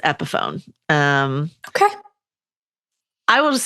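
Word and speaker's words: Epiphone: The guitar is pronounced epohone.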